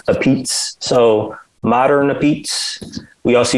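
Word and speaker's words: apizza: a new haven slash connecticut thing and it's pronounced appeats so modern repeats we also used to go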